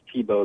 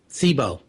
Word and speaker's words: Thibault: It's actually pronounced Thibault the French way, so the L and the T are silent. Thibault.